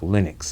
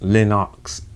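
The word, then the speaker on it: Lennox: uh lenox island okay i learned how to pronounce linox it's not linux linux lewis he was on there you know saying how to pronounce his own name it's lenox lewis so linox allen okay now at first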